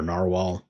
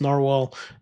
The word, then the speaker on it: Nahvalur: show was Nahvalur, or Narwhal, uh as they're also It's also It's actually pronounced Narwhal, but Nahvalur is how a lot of people see it.